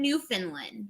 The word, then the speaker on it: Newfoundland: couple and they're in Newfoundland, which is also in Canada. So. It's pronounced Newfoundland.